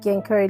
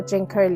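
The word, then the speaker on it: ginkgo: we will be painting The genko Leaf or jenko Leaf depending how you pronounce that in the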